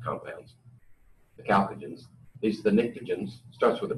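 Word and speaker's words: pnictogen: the chalcogen least the nikah jhin's starts with a p with the P is silent and then the rest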